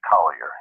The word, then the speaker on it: Collier: on where you are if you're in any other part of the country besides New Orleans its Collier if you're in the